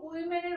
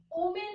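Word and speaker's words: women: উইম্যান তো এখানে দেখো উইমেনের উচ্চারণটা একটু না অন্যরকম ওমেন বলবো না এটা হয়ে যাবে ডব্লিউ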